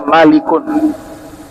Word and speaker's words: Malik: Tiga dibaca tanwin. Karena kaidah dalam bahasa Arab, setiap nama yang diambil dari bahasa Arab dibaca tanwin. Kalau nama asing bukan dari bahasa Arab, dibaca tanpa tanwin.